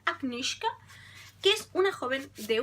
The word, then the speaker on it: Agnieszka: Agnieszka, según como la autora dice que lo tenemos que pronunciar, Agnieszka, que es una joven de un pueblo...